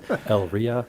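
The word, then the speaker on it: Elyria: Elria.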